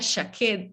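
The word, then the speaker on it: שקד: un juego de palabras almendro que se pronuncia shaker ya que significa despierto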